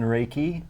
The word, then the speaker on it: Reiki: You're going to tell us some of the techniques that you use in Reiki, and did I pronounce that correctly?